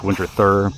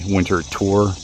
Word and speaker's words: Winterthur: And yeah, and to let you know, the house, it looks like it's pronounced Winterthur, but it's actually Winterthur.